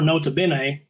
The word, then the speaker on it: Nota Bene: Well, another horse I've chased a little bit this year, the number 4, Nota Bene. I believe I'm saying that correctly. That was perfect pronunciation. I would have thought you were Italian.